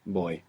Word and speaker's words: voy: Voy? The beginning bit of voyage. And you're mostly going to hear it pronounced more like a soft B. Boy. Boy. Voy.